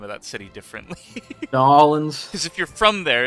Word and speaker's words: New Orleans: From New Orleans pronounces, like, everyone pronounces the name of that city differently. New Orleans. Because if you're from there, it's like just kind of a noise. You drop all consonants, basically. It's New Orleans.